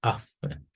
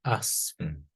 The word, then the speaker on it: Aŝfen: es una palabra compuesta, afen. O la opción número dos, que puede ser asfen, siempre y cuando pues se respete la pronunciación doble o la aspiración.